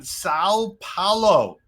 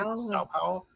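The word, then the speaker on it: São Paulo: Now, this one is down in Sao Paulo. Did I pronounce that right? Sao Paulo? You say it like you're holding your nose.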